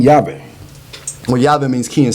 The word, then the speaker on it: Yave: Yave, of course, is spelled phonetically, so Yave. And Yave is like, ya tu ve, ya tu sabe.